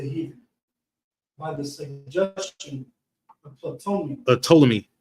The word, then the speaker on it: Ptolemy: by the suggestion of Ptolemy. The P is silent. Oh. If you don't remember, we was talking about Ptolemy, and he Ptolemy the second or the third was the sister of Cleopatra.